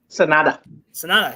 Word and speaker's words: Sanada: Is it Sanada? Is that how you pronounce it? Sanada? Sanada, yes. So Sanada versus Jungle Boy Jack Perry.